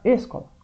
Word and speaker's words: escola: Não, vai ficar escola. Escola. Então não dá certo. É o escola. O có é mais forte.